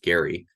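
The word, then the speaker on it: Gerry: in Massachusetts when Governor Elbridge Gary hard G uh Drew this redistricting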